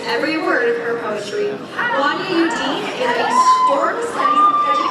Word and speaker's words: Wania: My name is Wania. It rhymes with Tanya, but it's a lot better.